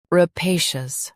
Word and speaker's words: rapacious: Rapacious. Both US and UK have the same pronunciation of this word. Stress pay. Keep shus soft and clear.